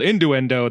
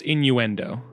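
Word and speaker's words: innuendo: it in the window no it's inuendo you're in the window no there's no D you're a windo until you get to the D in Endo anyway there's no D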